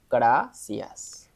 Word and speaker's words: gracias: Ooh, that's hard for you, I know, because we the way we pronounce the R is different, and I know that most of Asian speakers they struggle with the R pronunciation, and yeah, it's hard.